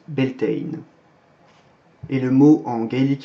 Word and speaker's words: Beltane: passe à beltane alors ben elton c'est une version moderne anglaise d'un mot issu du gaélique irlandais dont on parlera juste après donc beltane puisque ces deux langues les modernes ça se prononce bentein et le mot en